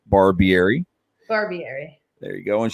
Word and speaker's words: Barbieri: As you can see her name, say it right, Barbieri.